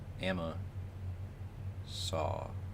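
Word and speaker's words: Amasa: Amma saw. Yeah, emphasis on the first syllable.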